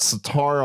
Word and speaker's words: sitar: You could put sitar on an average track. I love the way you're pronouncing that. And it'll sitar. It's been a long day. You're pronouncing it like guitar, which I like better.